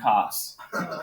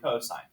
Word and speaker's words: cosine: abbreviated are still pronounced sine and cosine it's not sin and cos okay and tan